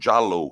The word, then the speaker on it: Jallow: far it was uh jallow who scored in the 10th minute of course it's not spelled like yellow in italian it's j-a-l-l-o-w and it was a